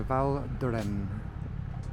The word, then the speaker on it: Val d'Hérens: We are heading to the Val Duran with a silent S.